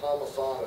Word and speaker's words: Palmisano: And my last name is spelled Palmisano. It's Palm, like the palm of your hand, I-S-A-N-O.